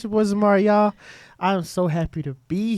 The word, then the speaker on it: Yauw: Like I said before, it's pronounced Yauw, and it's spelled Y-A-U-W.